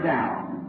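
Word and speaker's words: Daugh: I said, Brother Dow, can you hear me? He looked up at me. Not really in his name, he's a German, D-A-U-G-H, and I pronounce it Dow.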